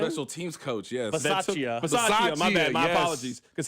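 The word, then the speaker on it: Bisaccia: They had Rich Basia. I think that's how you pronounce his last name. The special teams coach, yes. Basaccia.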